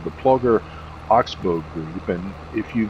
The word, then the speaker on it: Ploeger: I believe it's maybe pronounced Ploger. It's spelled Ploeger.